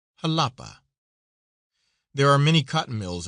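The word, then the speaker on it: Jalapa: Halapa is pronounced as though it were spelled with an h with a soft sound to the a. Halapa.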